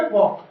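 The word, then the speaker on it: walk: ऐसे फ्रेंड्स, के से पहले आपको ये एल आ रही है, साइलेंट हो जाएगा, केवल क्या बोलोगे, वॉक।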